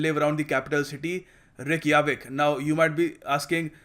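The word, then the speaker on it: Reykjavík: this as Ja, but in Nordic countries these guys pronounce Ja as Ya.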